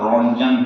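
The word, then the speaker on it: Röntgen: X race के ऊपर professor रोंजन थे, इसमें टी साइलेंट है, इसे रोंजन कहते हैं।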